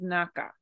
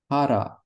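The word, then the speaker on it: 腹: So with that, if you take that O away, this is not pronounced as naka. So how would you read this? Hara ga suita.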